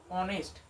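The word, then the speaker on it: honest: দেখো অনেস্ট, আগে কি আসছে? এইচ উচ্চারণ করতে হলে অ আসছে, অ, অনেস্ট, তাই জন্য আমাদের এখানে কি বসাতে হবে?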